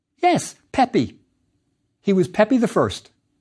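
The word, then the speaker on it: Pepi: in coues and the other looks like this pronounced yes Pepe he was Pepe the first there's another king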